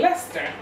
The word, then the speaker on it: Leicester: But Joe's mom hates it when I pronounce words as they are, because in England, instead of Leicester, it's spelled Leicester, but you say Leicester.